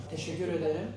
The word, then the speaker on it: Teşekkür ederim: Teşekkür ederim.